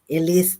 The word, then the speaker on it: Elise: Elise, that's how to pronounce the name.